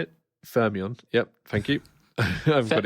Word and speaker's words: Fermion: Fermion.